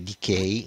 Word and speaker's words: DK: forma di virgolina chiamato germe DK che in realtà si legge Decay in inglese appunto Decay significa carie No in inglese quindi